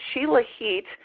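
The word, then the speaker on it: Shilajit: to pronounce it some some people call it Sheil legit uh they'll call it there's all kinds of things but sheilah heat is what um the medical dictionaries are saying the way that you pronounce it it is a Sanskrit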